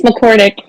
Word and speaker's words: McCordic: I usually ask for pronunciations before. Is it McCordic? It's McCordic.